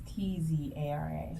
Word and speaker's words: Tzara: It's at Tzara Paints, and it's Tzara. TZ, yeah, the T. Yeah. Silent. T is silent.